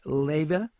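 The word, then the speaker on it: Leyva: Her name is Connie, and it's Leva. I believe that's right. Is that right, Connie? That is correct, Will.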